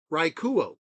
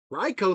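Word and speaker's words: Raichu: groon not good and for the longest time I said um rikuo that sounds cooler raicho sounds like trash but I eventually got to the point of saying I am okay with it so before I could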